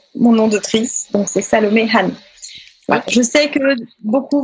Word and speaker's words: Salomé Han: Alors, déjà, je m'appelle Salomé Han. Donc, on va prononcer le H.